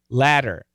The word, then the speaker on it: latter: If we say latter, Americans say ladder, which is essentially, it's actually not exactly the same, but it's so similar, don't worry about it. They sound the same.